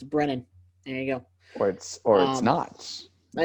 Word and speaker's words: Brennan: It's not Brendan. It's not Brandon. It's Brennan. There you go. Or it's not. Well, that's how you spell the Brennan part of not Brennan.